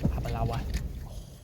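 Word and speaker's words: Aberlour: Abalawa. That's how you pronounce it. That's how the Scottish pronounce it anyway.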